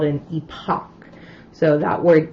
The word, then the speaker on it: epoch: time that's called an epoch. So that word E-P-O-C-H is pronounced epoch. I tell students it kind of rhymes with Tupac if you're trying to remember how to say it.